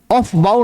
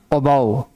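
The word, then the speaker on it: Aufbau: है ओ बाउ principle ऑफ बाउ नहीं पढ़ना अबो एफ को साइलेंट कर दो एफ समझो नहीं है और अब पढ़ो above above principal the vacant सब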